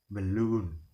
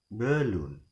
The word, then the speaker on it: balloon: So the second syllable is longer than the first syllable, so the stress is given in the second syllable. So we will pronounce it as balloon, not balloon.